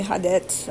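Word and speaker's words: ha det: Hade, goodbye, hadet, I said hadet because I've heard that, and god dag. Hadet is spelled H-A, first word, second word, D-E-T.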